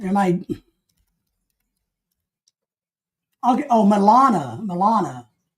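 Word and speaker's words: Melania: am I oh Milana Milana I'm saying it wrong it's it's Milana sorry guys you're right it's Milana not yeah it's Milana my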